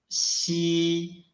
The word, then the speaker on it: xi: Unlike ji and qi, when we read xi, the airflow is not blocked at all. Xi.